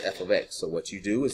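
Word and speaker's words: f(x): I have f ofx. That's how you say it. It's not f* x, that's f ofx.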